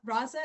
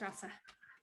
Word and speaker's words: Rasa: Raza, is that how you say it? That's Rasa. Rasa.